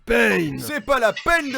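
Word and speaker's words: Pain: les bases de l'akatsuki ben ça se prononce payne c'est pas la peine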